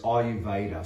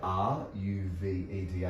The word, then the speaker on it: Ayurveda: There's Western herbalism, there's Ayurveda, spelt with an A, pronounced like it's an I. So Ayurveda.